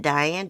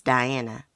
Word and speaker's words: Diana: your name right die is it diane diana it's diana i believe i love